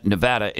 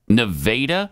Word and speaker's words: Nevada: if Pat was asking about the town Nevada in Missouri he'd get funny looks it's nadaa I'm looking it up